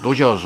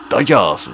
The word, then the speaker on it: Dodgers: 今ドジャースはね、ドジャースじゃなくて本当の発音はダジャースですけどね、ダジャ